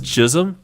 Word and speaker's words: Chisholm: jazz chisholm of course it's really easy to get it backwards and have it as chas jism so just be careful how you say it but o for two on the day is chism and he's facing a